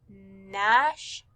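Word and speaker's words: gnash: g and diagraph but remember that g is silent so you just hear the nash nat on number five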